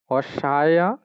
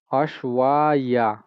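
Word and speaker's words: अश्वाय: অশ্বাইয়া, অশ্বাইয়া, অশ্বা, অশ্বা, অশ্বাইয়া। আর যেটা আমরা ওই ইয়া যেটা আছে অন্তস্থ জয়ের মতো দেখছেন, এটার উচ্চারণ ই আ, ই আ, অশ্বাইয়া। অশ্বায় নয়, অশ্বা, অশ্বা ইয়া, অশ্বাইয়া।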